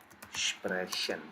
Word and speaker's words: sprechen: Whenever ch is after these vowels, we are going to pronounce here ch as sh. Example, Sprechen. You see, ch is appearing after e.